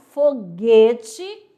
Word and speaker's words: foguete: Ó, esse U não é pronunciado. Foguete, ó.